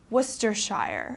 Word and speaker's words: Worcestershire: and for example my English teacher is from Worcestershire okay this is also a sauce that's popular